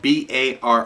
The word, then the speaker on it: barre: chord is simply and it's spelled b a r r e bar b a r r